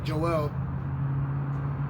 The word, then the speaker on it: Joel: Let me just start Joelle, so I believe that's how it's pronounced, Joelle, chapter 3.